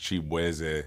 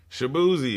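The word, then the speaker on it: Chibueze: I'm Nigerian American so my last name is actually pronounced chap W and just growing up in Virginia like everybody just did not know how to know say my name so they was just like shaboozie and I was like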